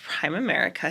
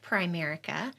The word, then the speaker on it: Primerica: um you are the regional vice president of prime America here in the area yes it's actually pronounced Primerica Primerica okay yeah and I run the Ocala